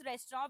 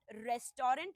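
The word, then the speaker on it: restaurant: सो the right pronunciation is नॉट रेस्टोरेंट। इट्स रेस्टोरंट। Please mark me. Last में जो टी आ रहा है उसको भूल जाओ आप।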